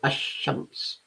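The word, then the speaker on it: الشمس: it you you say ashames notice the fact that lamb is not pronounced la is not pronounced it's dropped you go straight to sheen tamar is the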